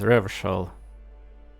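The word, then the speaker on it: Revachol: Revshol is pronounced as Revshol.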